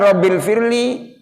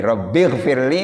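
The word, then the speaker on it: رَبِّ اغْفِرْ لِي: begitu Oh begitu ya Jadi robbigfirli warhamni watub alayya bukan profil Febri baca doa yang lainnya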